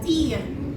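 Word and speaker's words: тӥр: Тир. Тир это топор. Да? Я всегда своим ученикам говорю cup of tea, да, как в английском tea, тир.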